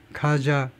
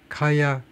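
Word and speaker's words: Kaja: 카자 카야 칼라스 카야라고 그러는 거 발음이요.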